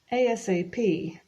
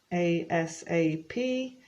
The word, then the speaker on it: ASAP: pronounce it like this a-s-a-p with each individual letter but it's also very